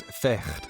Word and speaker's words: vecht: In Dutch, fight is vecht, pronounced with a guttural sound.